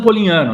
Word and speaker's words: Polignano: Polignano, né? O meu nome, o GN é mudo aí no meio, as pessoas se atrapalham um pouco, mas é igual nhoque, igual champanhe, né? Nada tão complicado assim.